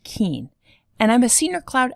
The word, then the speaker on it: Kuehn: my name is keane yes it's pronounced keen and i'm a senior